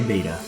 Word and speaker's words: betta: in betta fish and I know it's pronounced better but I'm gonna say bata this